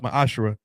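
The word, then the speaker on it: מעשר: Malachi 38-10 means 10th in the Hebrew it's pronounced my ashra 10% of every penny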